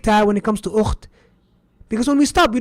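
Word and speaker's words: أخت: Why do we write the big ta when it comes to ukht? Because when we stop, we don't say ukh. La, we say ukht. We pronounce the ta when we stop.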